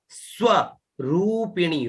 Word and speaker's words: स्वरूपिणी: फिर है सत्यानंद है ना, सत्यानंद स्वरूपिणी, ये रू दीर्घ है, ठीक है ना, रूपिणी है ना।